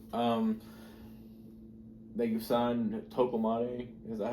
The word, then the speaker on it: Ekambi: Um They just signed Toko Ekambi. Is that how you pronounce his name? Ekambi, yeah.